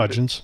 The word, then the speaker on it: Huggins: And then Maria Huggins, or Huggins pronounced Hudgens, it, from BYU, 6-foot guard, veteran.